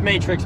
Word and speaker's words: Matrex: coal of duty team leader and captain it's pronounced matrix but it's spelled in much rice trucks is